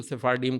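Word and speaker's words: Sephardim: اچھا وہ کہتے ہیں وہ سیفارڈم نا, وہ شاید اسپینش کیا کا جو ہے نا وہ تلفظ تھوڑا بدل کے اس کو سیفارڈیم کر لیا ہے.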